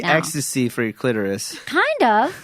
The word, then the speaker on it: Extase: on one remote, but it's EXTASE and it's pronounced ecstasy. Oh, nice. I didn't know that. I didn't know about that at all. I was like, so tell me about ecstase.